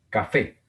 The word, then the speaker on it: café: Café. Café. Otra palabra aguda con el acento en la última sílaba terminada en vocal. En este caso una E.